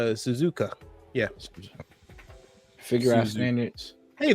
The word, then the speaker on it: Suzuka: Silence Suzaka. It's no Suzuka.